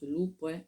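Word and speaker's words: Lula: de 36 15 là loup l u l a ça se prononce loup.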